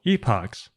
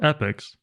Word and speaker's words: epochs: Set up a variable called epochs, or epochs. Either pronunciation is acceptable.